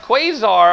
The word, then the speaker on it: Quasar: Hello, Quad Arcade. How are you? Who are we talking about? Quasar Arcade. That's how you pronounce the word.